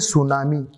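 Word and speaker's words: tsunami: अब जरा एक बार देखें, ये सुनामी की जो स्पेलिंग है ना, वो टी आगे लिखते हैं, टी आगे लिख के फिर लिखते हैं सुनामी। तो टी आगे क्यों लिखा?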